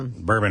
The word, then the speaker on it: Berman: Berman rhymes with Sherman.